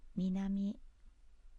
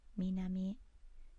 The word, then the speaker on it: 南: And the pronunciation is minami, minami.